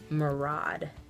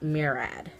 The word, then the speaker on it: Murad: makeup counter, they told me that this is pronounced Murad, not Murad. So I go in with the Murad or the Murad, whatever.